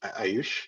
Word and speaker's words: Ayush: Ayush, did I pronounce that right?